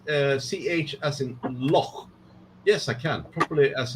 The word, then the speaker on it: loch: James Boy says, Marcus, can you pronounce CH as in loch?